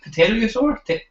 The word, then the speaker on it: pterosaur: Pterosaur? I suppose the P is silent.